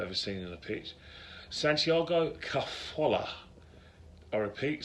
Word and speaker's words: Santiago Cazorla: smallest player I've ever seen in the pitch, Santiago Cazorla. I repeat, Santiago Cazorla, that's how you pronounce his name.